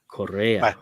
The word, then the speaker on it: Correa: Carlos Correa. Is that how you say it? Correa. Carlos yeah, Correa. There you Correa. go. Played for the Astros. It's Correa.